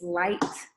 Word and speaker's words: Lighkt: name is my artist name is light um which is spelled l-i-g-h-k-t a lot of people have been like why is there a k is it still pronounced light if there's a k in it does it like it right right that's me um but the k is in there but it's silent and the k is for